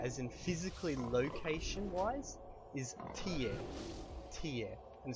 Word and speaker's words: tie: word for their as in physically location-wise is ta ta and spelled TI e it's very similar to